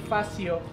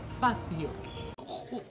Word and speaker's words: Fazzio: So, ayun yung pronunciation daw nito, hindi Fatio, is Fatio. Antindi mo rin. Ako ang kinakwento ko sa inyo totoo. Kailangan mo, meron ka munang S problem sa dila bago mo pronounce to. Fatio. Parang pizza.